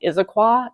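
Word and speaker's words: Issaquah: It's now in Isiqua is how that's pronounced.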